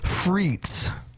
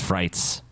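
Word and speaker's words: frites: oh hold on TJ it's freets no it's frights freets your Freight it's pronounced fre it's a fright you cre Vine fre these are Belgian freets there you go you did it right I will eat my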